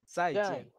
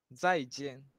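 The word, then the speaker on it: 再见: বর্গীয় জ জ যাই, তবে একটু হালকা ভাবে হবে, একদম এই ইয়া দিয়ে, এই জিহ্বার আগা দিয়ে বের হবে যাই। আমি ক্যামেরাটা অন করে দেখাই। যাই জেন।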